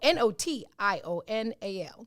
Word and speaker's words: notional: n o i no n o t i o n a l notional like national with an o it has two meanings